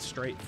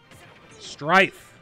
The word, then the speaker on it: Strife: I keep calling it Strafe. Strafe's that new indie game, which I don't think is out yet. Strife. I remember as a kid, I always got the name wrong, too. I was like, is it Strafe or Strife?